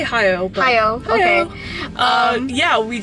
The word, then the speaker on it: Hayao: And we are at AFI FEST, and we just watched Hayao Miyazaki's The Wind Rises. Is that how I pronounce his name? Yeah, I say Hayao.